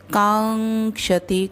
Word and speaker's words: कांक्षति: तो यो न हृष्यति न द्वेष्टि न शोचति न कांक्षति, कांक्षति क के ऊपर आघात है और क्ष अंग, कांक्षति अंग आधा, क्ष पूरा, तभी छोटा ह्रस्व है।